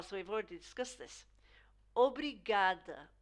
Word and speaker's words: obrigada: Obrigada, obrigada. So this is more of an oo really than an ah, you know.